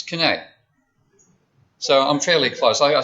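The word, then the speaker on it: Quesnay: It's Kinney.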